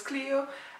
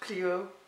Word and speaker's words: Clio: My name is Clio. and no that's not Cleo spelled like this. It is not Chloe, it is not Cleo. My name is Clio. Yes like the car in case your European.